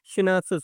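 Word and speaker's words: Schnapps: जिसको क्या बोलते हैं, सिनेप्सिस बोलते हैं। इसको प्रोनाउंसिएट कैसे करेंगे, देखिए, सिनेप्स, ठीक है, सिनेप्स है ये।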